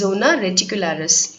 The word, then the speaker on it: zona reticularis: They are zona glomerulosa, zona fasciculata and zona reticularis. திருப்பி படிக்கிறேன், just note down the pronunciation. 3 types of cells வந்து adrenal cortexல இருக்கு. They are zona glomerulosa, zona fasciculata and zona reticularis.